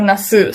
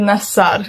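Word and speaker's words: Nassr: leader nasar um or Nas some people are pronouncing it Nas some other are pronouncing it nasar and I pronounce it nasar I don't know anyways so Ronaldo Al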